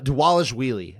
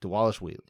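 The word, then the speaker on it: Dvalishvili: 135 marad deales uh deales wheelie I I need to say his name right I've been saying it wrong deales wheelie the v's are pronounced like uh W's all right yeah that's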